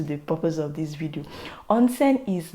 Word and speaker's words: onsen: i'll be talking about onsen on scene like you literally pronounce it the way it is spelt onsen onsen is actually a